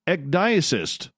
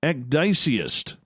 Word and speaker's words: ecdysiast: The Desert Clam has set the password for tonight in the SOR Space Travelers Club, Ecdysis. Oh, I butchered that again. Ecdysiast. There we go.